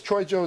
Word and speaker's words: Troyjo: Is Troyjo the right pronunciation? It's fine.